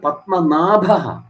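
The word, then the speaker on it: പത്മനാഭഃ: പത്മനാഭ പത്മനാഭൻ എന്ന് പറയുമ്പോൾ എന്താണ് ശരിയായ ഭക്തൻ എപ്പോഴും വന്നത് പത്മനാഭഹ എന്നാണ്ല്ലേ ആ ഉച്ചാരണം ശ്രദ്ധിച്ചണം പത്മനാഭ പത്മനാഭൻ പലരും പറയുംഅത്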